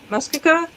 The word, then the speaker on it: Muskoka: Muskoka.